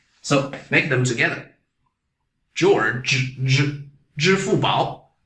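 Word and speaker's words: 支付宝: Alipay in Chinese is 支付宝. 支付宝. You're going to find this ZHI really difficult for you to pronounce.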